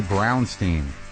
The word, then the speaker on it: Brownstein: Carrie Brownstein. Yep, you're pronouncing it correctly.